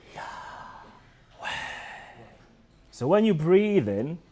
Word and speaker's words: Yahweh: The actual pronunciation of God's name is the same as when you breathe in, so it's Yahweh.